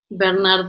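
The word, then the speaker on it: Bénard: presence, which is João Bernardo da Costa. Bernard da Costa, yes. It's the French name, Bernard.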